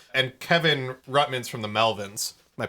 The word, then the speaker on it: Melvins: And Kevin Rutmans from the Melvins. Am I pronouncing that right? I don't know how to pronounce it. Melvins, yes.